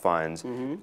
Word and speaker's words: Fiennes: Because to read, for example, Ralph Fiennes, there's no way to know that his name isn't pronounced Ralph Fiennes other than having someone tell you.